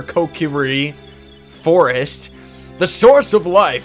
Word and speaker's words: Kokiri: hyrule for so long the kokiri is how it's properly pronounced but i i prefer kokiri forest the source of